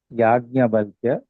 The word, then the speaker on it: Yajnavalkya: Even if you pronounce as Yajnavalkya, that is also correct. In fact, he is called as Yajnavalkya only. Yajnavalkya Valkyadayaha. So actually, Yajnavalkya is Maharishi. So Yajnavalkya is correct.